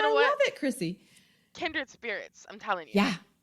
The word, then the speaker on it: Krisi: to go to my website and it's coach Chrissy which is spelled Coach Co H oh c o a